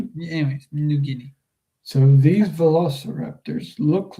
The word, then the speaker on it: New Guinea: It's pronounced New Guinea. Anyways, New Guinea.